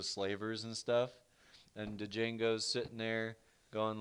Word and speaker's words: Django: is also a Western I'm gonna butcher the actual way this is pronounced cuz I really don't know bombs could have pronounced the way it's spelt de Jing gu Unchained Django go yes Django Unchained Django from Quentin Tarantino hell